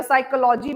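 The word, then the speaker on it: psychology: तो जैसे फिलॉसफी है या साइकोलॉजी में पी साइलेंट आ जाता है या हमारे बहुत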